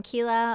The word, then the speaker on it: Quila: So I'm Kila. A lot of people call me because if you see how my name is spelled, it freaks a lot of people out initially.